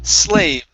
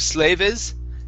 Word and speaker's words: slaves: here okay uhhuh okay this word here is pronounced slaves instead of slaves slaves slaves good uh uh next up